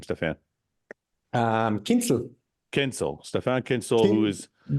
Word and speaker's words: Kienzl: do you say your last name Stefan um kinel kinel Stefan Kinsel who is you guys don't